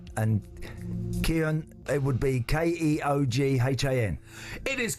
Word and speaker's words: Keoghan: And Keoghan, it would be Keoghan. It is correct for a point. How's it pronounced? Keoghan.